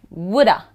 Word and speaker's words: would have: Similarly would have, becomes woulda. You don't wanna do that, woulda, woulda, would have.